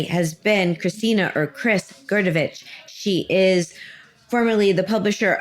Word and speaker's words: Grdovic: that's her last name which just it's just gerovich sort of pronouncing it some right on this you're doing